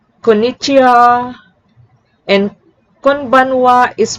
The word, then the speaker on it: konnichiwa: When ha is used as a particle mark the subject of a sentence, it is pronounced like wa. I'll repeat, if you see the syllable ha, it is pronounced as wa. For example, konnichiwa, konbanna. I'll repeat, konnichiwa is pronounced as konnichiwa, and konbanwa is pronounced